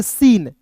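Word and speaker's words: scene: अब देखिए यहां पे एस सी ई एन ई है तो इसे पढ़ेंगे सीन। एस सी ई एन ई को क्या पढ़ेंगे? सीन। देखिए टी को इसमें साइलेंट करना है। एस का स लिखना है। इ है तो इसका उच्चारण इ के रूप में एन ई को पढ़ेंगे न। सीन एस सी ई एन ई सीन।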